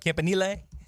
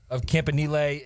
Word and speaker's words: Campanile: Now, were you shocked when that's how the pronunciation went? Campanile? No. His brother's name is Nunzio. That ought to give you some indication as to how it was going to go.